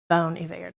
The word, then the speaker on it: Bon Iver: currently own a there and she said you pronounce it boney there Bon Iver so anyway so welcome Emily and then we